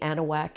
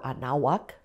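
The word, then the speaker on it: Anahuac: very much involved in the anna whack area or anawak as more properly pronounced but the texas revolution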